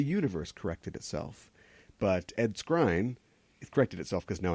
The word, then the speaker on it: Skrein: But Ed Skrein, it corrected itself because now I know how to say his last name, was cast as Dameo in the Hellboy reboot.